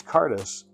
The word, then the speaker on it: Cairdeas: seems to be um big on hard to uh phonetically explain the words right so it's ctis but it's spelled might be backwards c a i r d e as but and the name